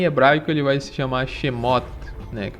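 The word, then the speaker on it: שמות: Já em hebraico ele vai se chamar Shemot, que é uma pronúncia aproximada, que significa livro dos nomes, Possivelmente, como a gente sempre fala, tem o objetivo de trazer essa ancestralidade.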